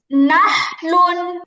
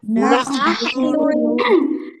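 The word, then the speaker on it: نحل: নাখলু নাহলুন, নাখলুন নাহলুন। নাখলুন হাটা খুব হা স্পষ্ট উচ্চারণ হবে, হা নাহলুন। নাহলুন নাহলুন ওকে, তারপরে নামলুন নামলুন নামলুন, নামলুন নামলুন।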